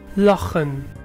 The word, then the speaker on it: lachen: and the sound which CH often represents, for example. Lachen.